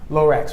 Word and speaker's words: Lorax: Seuss is Laura Lorax Lorax right two syllables Lorax say will be